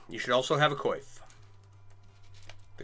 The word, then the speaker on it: coif: You should also have a coif. The coif makes it more fun. I've also heard it pronounced coif. Only by 2 people in the world.